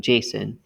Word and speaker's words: JSON: and by the way json json like the name json is how it's usually pronounced that stands for javascript